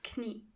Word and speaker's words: Knie: And in German, you have to pronounce the K. Das Knie.